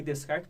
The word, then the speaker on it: Descartes: Falei Descartes porque não se escreve com S aqui no meio.